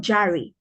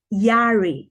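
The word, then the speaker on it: Jahre: being 26 yarge out it's not Jerry the J it's yachts in German so it's pronounced Yari ich bin 26 years out if you're 26.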